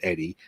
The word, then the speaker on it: Oedi: So a lot of people sometimes say Odie. A lot of the guys I've worked with have called me Odie, but it is actually pronounced Eddie, even though it's spelled OEDI.